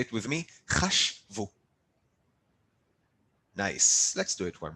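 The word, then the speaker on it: חָשְׁבוּ: form, the same chashav, to put a u sound at the end and still to cut the verb in the middle. So hem or hen, chashvu. Say it with me, chashvu.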